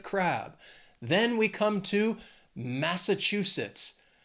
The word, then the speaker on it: Massachusetts: is pretty amazing in Massachusetts they also have four syllables and the stress is on that third syllable that chew Massachusetts when I think of